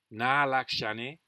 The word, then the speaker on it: nālakṣaṇe: So I said nālakṣaṇe, na salakṣaṇe. That's wrong. It should be nālakṣaṇe, na salakṣaṇe. Laksh is long, e is long. Nasa is short.